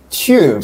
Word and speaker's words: tube: English it's the the underground or the tube tube tube Tu u b e but it's pronounced with a c CH H sound okay